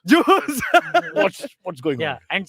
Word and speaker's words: Zeus: And of course, Maharashtrian say juice. Zeus.